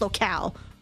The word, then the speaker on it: locale: Indeed, that individual has an informational advantage over us when it comes to this locale. Right? That's how you pronounce it?